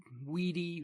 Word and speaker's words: Vidi: The Britons, however, who of course still use the old pronunciation, understanding him to have called them weenie, weedy, and weaky, lost heart and gave up the struggle.